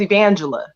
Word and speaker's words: Evangela: uh my name is evangela one more is four syllables but we can put it together and it rolls evangel okay um i was